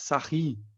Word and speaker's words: Sarrus: falar na regra de Sarrus. Sarrus, né? Já ouviram falar? Mas se pronuncia regra de Sarri. É francês o cara. Sarri, ele tá aqui, ó. Escreve Sarrus, mas se lê Sarri.